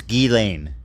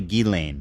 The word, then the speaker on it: Ghislaine: It's Gain. It's really Gain. Yeah, I thought it was Gain, but it's actually Gain is the French pronunciation. Okay, I will try, but no promises. So, Gilane uh met with the DOJ uh deputy attorney